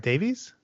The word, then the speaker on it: Davies: Am I saying that right, Davies? I say Davis, but Davies is fine. Oh, really? You say Davis? Davis, yeah. It's a Welsh pronunciation.